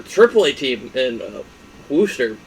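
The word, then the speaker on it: Worcester: wall um their triple a team and uh wooster it's not definitely should not be pronounced booster but it is uh they have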